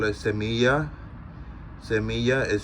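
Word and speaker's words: semilla: litter I call it semiya Samia is spelled ese I mean s e m i double l a in Spanish the Double L makes like a yeah sound like yellow or yikes or um what else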